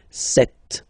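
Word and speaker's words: sept: Then here, remember, P is not pronounced. Okay, it doesn't exist. So you got this set sound.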